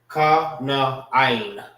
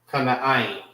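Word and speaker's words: כנען: Kana'ain. All right. That's how you say Canaan. Kana'ain.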